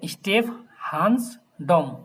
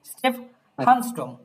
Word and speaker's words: Stephansdom: দেন স্টেফহানসডম এভাবে উচ্চারণ করবেন, যে যদি একবারে কি হয়ে যায়, খুব বড় হয়ে যায়, তখন ভেঙে ভেঙে স্টেফহানসডম।